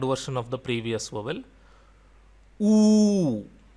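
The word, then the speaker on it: ऊ: Oo. Oo. And it is pronounced like double O in room.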